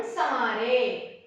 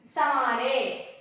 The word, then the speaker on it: संवारे: सवारे बोली, सवारे लिखी मैं, संवारे बोली, है ना। इसका और ये शब्द का प्रोनाउंसिएशन हम कैसे आ रहे हैं, सवारे समारे। ठीक है बच्चों, चंद्र बिंदु का प्रोनाउंसिएशन आना चाहिए।